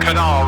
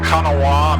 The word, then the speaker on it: Kanawha: It's a private strip in the Kanawha River, as they say in Chesapeake, West Virginia. Looks like it's pronounced Kanawha, I'm not sure, but I'm going to go with what the locals say, the Kanawha.